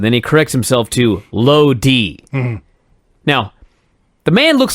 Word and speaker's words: Lodi: Well, Lodi is a city. It's not Lodi, it's Lodi.